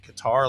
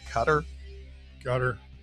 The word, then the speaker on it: Qatar: I've heard Qatar, like you said. I've heard Qatar. Is that what we think? I think they're both okay. Okay. So it's potato. So it's got dual pronunciation.